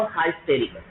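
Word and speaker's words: hysterical: हिस्ट्रिकल यानी हिस्ट्रिकल, इसकी जो history, VAT इज the right pronunciation of this word, इस वर्ड का जो शुद्ध उच्चारण है वो हाइस्टेरिकल।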